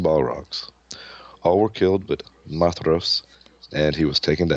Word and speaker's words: Maedhros: Madros, oldest son of Feanor, is that how y'all pronounce that? Madros? Yeah. Madros? It's Mithros. That's right. DH is a Maedhros. TH. Maedhros. Mithros.